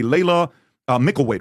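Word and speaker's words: Laila Mickelwait: I had this girl here the other day, Layla Mickelweight.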